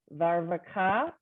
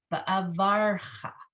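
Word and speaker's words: וַאֲבָרְכָה: Slow down on that one. I think you got all the syllables, but say it a little slower. Va'avrka. Va'avarcha. Va'arvka. Straight, slow. I messed you up worse. I apologize. So va'avarcha. You have to get the ration there before you get to the final syllable.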